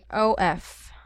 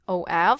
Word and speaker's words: of: That is read as you can see, this is spelled as OF, so it would be sounds like of, but the real pronunciation for that is of. Okay? Yes, of. As in V, yes, violin.